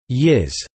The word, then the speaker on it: ye-s: In addition, in some areas in Leinster, North Connacht and parts of Ulster, the hybrid word yes, pronounced yiz, may be used.